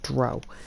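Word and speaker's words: drow: Dark Elves known as they say it's pronounced brow but I grew up calling it DRO so anyway potato potato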